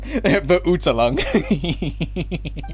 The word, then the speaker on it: Verurteilung: I'm telling you right now, that is not how you pronounce Verurteilung. Verurteilung.